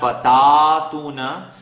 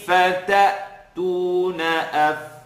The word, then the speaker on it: فتأتون: When Hamza has a connect on top of it, a sukoon, the letter that's connecting to it gets a sharp sound. So it's not fatatuna, fatatuna afwaja. يوم ينفخ في الصور فتأتون أفواجا.